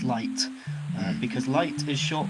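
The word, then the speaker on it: Leit: yes for the avoidance of Doubt uh is pronounced light uh because light is short for light Motif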